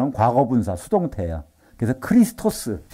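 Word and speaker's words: Χριστός: 어떻게 보면 영어식으로 하는 과거 분사 수동태 그래서 크리스토스 크리스토스 마시아 흐는 히브리어 크리스스 헬라어 그걸 우리는 그리스도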